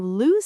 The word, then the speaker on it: lose: just like when you lose something, you are missing it. Trick number two, for pronunciation, think of rhyming words. Lose rhymes with shoes, news, blues, choose. They all have that lose sound.